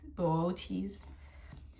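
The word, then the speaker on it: Boötes: It's so there's like lowerase B O dash uppercase O H dash lowerase T E S Botus Booties with the stress on the second syllable.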